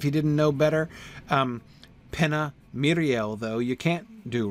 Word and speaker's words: Miriel: And Miriel, you've got the accent on the first syllable, right, to tell you to stress that one.